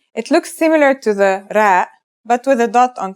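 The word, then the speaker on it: راء: our first letter is RA its closest English counterpart is the letter R but it's a different sound that must be learned ra it's not too hard to pronounce though right note how it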